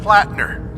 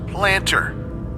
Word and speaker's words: Plattner: Like this one glitch where Sergeant Plattner keeps getting pronounced Planter.